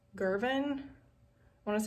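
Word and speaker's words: Girvan: but it is g-i-r-v-a-n i think it's like girvin i want to say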